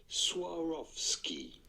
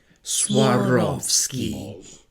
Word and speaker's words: Swarovski: How do you go about pronouncing it in English? Swarovski. Swarovski.